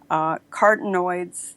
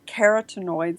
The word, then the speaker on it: carotenoids: while minimizing the risk carta noids that are in carotenoids sorry i pronounced that one wrong to this and vegetables